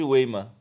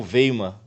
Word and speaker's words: Weimar: E aí, dessa guerra civil, vai cair a monarquia e vai surgir a famosa República de Weimar, ou Weimar, né? Depende de como a pessoa vai pronunciar. E aí, então, em 1919, começam as negociações pós-guerra.